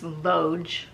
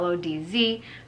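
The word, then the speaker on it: Łódź: Google says it's Lodz. If you pronounce it in Polish, it says different, but I think you know where I'm talking about. Lodz, Poland, in 1927.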